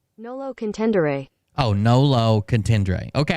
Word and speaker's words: nolo contendere: it he pled guilty no contest um uh pronounce tendre now low contendre Nolo contendere oh no low contendra okay I was saying